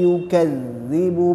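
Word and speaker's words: يُكَذِّبُ: tetap dikeluarkan lidahnya sedikit kemudian yukzi itu zanya bertasdid jadi harus ada nabr atau penekanan di tasdidnyauk jadi yukadzi harus ditekan karena ada tasydid di huruf Danya caranya ya seperti itu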